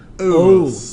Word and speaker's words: nitrous: Ite becomes us. not us, US, but O-U-S. it's spelled Oos. O-U-S. Oos.